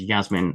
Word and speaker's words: Yasmin: I would say this is Jasmine with a J, and this is Yasmin with a Y.